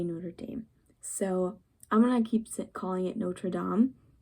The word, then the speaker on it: Notre Dame: So when you're talking about the cathedrals of Notre Dame, you say Notre Dame.